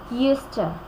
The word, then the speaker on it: used to: two sounds okay hmm we don't say used to we say Houston Houston you sir Houston